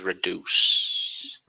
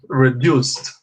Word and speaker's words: reduced: I will have my chin size reduced. Reduced. Tem que pôr o ED ali no final. So I will have my chin size reduced. Never forget to pronounce the D, okay?